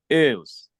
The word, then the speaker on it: ils: Ils. So the S is silent, okay? So you say il. Il. Okay. Yes. Although it's plural in this context, we don't mention the S. It is silent.